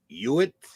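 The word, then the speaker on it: Hughitt: pronouncing don't even know Tommy uitt I know guy h u g h TT that's a weird spelling of uitt but that's how I pronounce it uitt he again 1920 to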